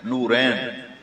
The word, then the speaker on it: نورین: بیٹیوں، کہتے ہیں نورین، یہ لوگوں کو پتہ ہی نہیں پروننسیشن کیا ہے، یہ اصل اس کا تلفظ پروننسیشن ہے نورین۔ بیٹیوں کے نام رکھ